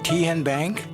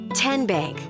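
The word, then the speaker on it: TNBank: How do you say the name Ken Bank? Nope. Tin Bank. Uh-uh. So, what is it? Tenbank. 10 as in Tennessee.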